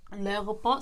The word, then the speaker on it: l'aéroport: When you're pronouncing that noun, you say the L apostrophe and the noun all together. L'aéroport.